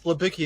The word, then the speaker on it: Libicki: It's Libicki in the United States. It's Libicki in Poland.